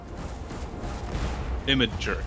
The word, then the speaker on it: Imgur: Imager is how you pronounce that.